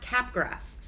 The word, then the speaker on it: Capgras: CAPGRAS. I pronounce it Capgras.